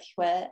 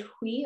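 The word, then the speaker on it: Huế: Is it Huy or Hue, James? It's Hue. You said it right the first time.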